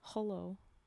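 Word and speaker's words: hullo: It says "holo" as opposed to "hello." It's spelt with a U.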